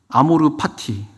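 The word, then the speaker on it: amor fati: 아모르 파티 그게 아모르가 사랑해라 사랑하다 파티가 뭐 F죠 정확히 F 발음인데 삶 그러니까 삶을 사랑해라 지금 네가 살아 있는이 순간을이 살아 있는이이 시간들을 아주 소중히 여기라는 거예요.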